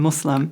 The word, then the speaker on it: Muslim: we have so many different pronunciations, but the most correct is Islam and Muslim.